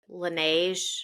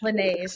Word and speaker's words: Laneige: There's one called, I don't know how you pronounce it, Laneige. Laneige, that's what Avery has.